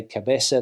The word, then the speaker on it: cabeza: And when it comes to Latin American Spanish, of course, they say Barcelona, they say cabeza, they say cerveza. They don't speak with the th sound.